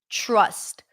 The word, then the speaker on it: trust: So instead of pronouncing it up here, t, t, t, you pull the tongue in a little bit and you pronounce it further back, ch, ch, ch, and and then it becomes more of a ch sound.